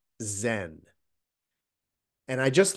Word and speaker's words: Zen: just Chan and then that character goes to Japan where they pronounce it Zen and I just like